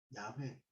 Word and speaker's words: 야훼: 하나님의 이름이 여호와, 야훼, 여호와가 발음이 올바르지 않다고 이제 야훼라는 말을 굳이 이제 신학교에서 새롭게 쓰거든요. 이게 맞기도 하고.